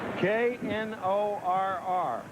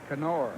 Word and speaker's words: Knorr: K-N-O-R-R. Knorr. Knorr. Steve Berger, is that the pronunciation on his name now?